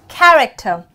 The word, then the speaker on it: character: C plus H, the examples we have is character. Here, the sound is K, character. Character.